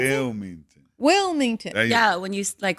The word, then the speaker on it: Wilmington: It's an I, not an O. She said Wilmington. Oh, wait, how do you pronounce it? Wilmington.